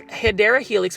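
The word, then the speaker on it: Hedera helix: got a hedra helix these hyera Helix which is actually the correct way to say English ivy are um meant to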